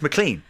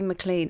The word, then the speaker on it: McLean: of andrea and it's mclean it's mclean mclean but it's spelt mclean so i understand why you'd say maclean it's the scottish pronunciation so it's mclean and